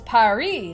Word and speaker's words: Paris: the capital of France in English they say it like Paris but the rest of the world says pyari like the French do so how come everyone